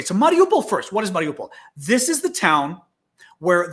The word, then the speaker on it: Mariupol: but absolutely horrific um mario paul or mariupol i'm not i don't know i pronounce these things as best i can having study russian and speaking greek because the alphabets are actually very similar but so i'm going to say it's mariupol you might have heard